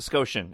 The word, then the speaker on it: Scotian: And then they tell me it's pronounced Scotian, as in Nova Scotia, but I am Nova Scotian.